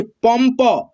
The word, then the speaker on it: पंप: दोस्तों इस बिंदु को हम लोग आधा न और आधा म पढ़ते हैं, क्या पढ़ते हैं, आधा न और आधा म। जैसे यहाँ पे आप देख सकते हो प में अन की मात्रा है, लेकिन यहाँ पे हम लोग क्या पढ़ेंगे, म पढ़ेंगे, आधा म, पम, प, पंप, ठीक है।